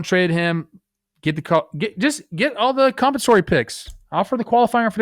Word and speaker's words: compensatory: You're putting the emphasis on the wrong syllable. Yeah, I'm sorry. I've been talking a lot lately. I'm over my own voice. It's compensatory.